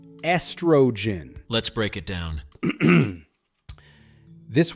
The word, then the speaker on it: estrogen: The correct way is estrogen. Start with S, then tro, and finish with a soft gen. Together, estrogen. Not estrogen, but smooth and simple.